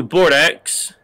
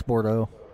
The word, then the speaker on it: Bordeaux: Drew Bordex. That's Bordeaux. The X is silent.